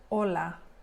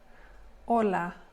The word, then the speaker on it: hola: for specific reasons so the H is silent in Spanish so this word is pronounced hola hola hola and you can see